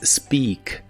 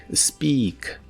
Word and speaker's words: speak: presente de inglés es speak. Se pronuncia con la I larga o doble. Speak, speak.